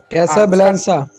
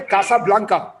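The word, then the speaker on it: Casablanca: کیسا بلانسا؟ نہیں، اس کا تلفظ کیسا بلانکا؟ اس کا نام ہے کاسا بلانکا۔ کاسا بلانکا، اور یہ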